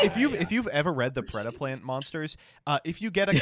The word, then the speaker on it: Predaplant: Predaplant. Right, so fun fact, you do have to pronounce this name correctly if you want to activate the effect.